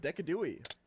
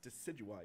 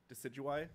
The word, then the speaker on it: Decidueye: next starter up is deca dewey dude it's pronounced decidueye you know that right decidueye it's name comes from deciduous and i you know